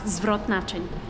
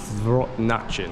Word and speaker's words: zwrot naczyń: Zwrotnaczyn. Zwrotnaczyn.